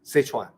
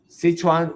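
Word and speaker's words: Szechuan: in the west uh sichan is hard to pronounce it s z e c H UA an sichan sichan when you hear the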